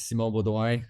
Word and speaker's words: Simon Beaudoin: My name is Simon Beaudoin in French, so it's a bit hard to pronounce.